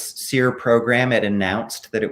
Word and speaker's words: SERE: as the seer program seer is spelled s-e-r-e and it's an acronym